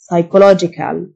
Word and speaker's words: psychological: نفسي، psychological، ال P silent، psychological.